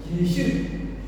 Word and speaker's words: Yeshu: That means ya and ja is interchangeable. Like in the Eastern Europe, there is one country, Yugoslavia, also they pronounce Yugoslavia. Yugoslavia or Yugoslavia. So what I mean is, ja, they are interchangeable. Yeshu, Myanmar language is Yeshu, but in English we pronounce Jesus.